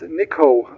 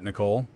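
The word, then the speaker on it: Niko: name my name is niiko I can spell it for you November India kilo Oscar got it Nicole ready to lift off no you got it wrong my name is niiko I can spell it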